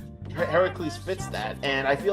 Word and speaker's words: Heracles: Heracles, Nate. The proper pronunciation, not like what fucking Disney did, but Heracles.